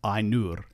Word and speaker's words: Ainur: we get words like Ainur, where the diphthong is an I diphthong, and remember the R does not change the sound of the U, so it's Ainur.